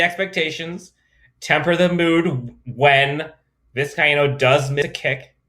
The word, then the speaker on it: Vizcaino: But Tristan Vizcaino, I believe it's 4 syllables, Tristan Vizcaino won the kicking job.